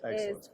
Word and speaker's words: AgCelence: Yes, AgCelence, correct.